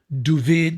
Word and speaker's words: David: And that's Ferris luck because I was hired by an Israeli cameraman that I'd worked with in the States named Duvid, they pronounce David Duvid, Gerfinkel.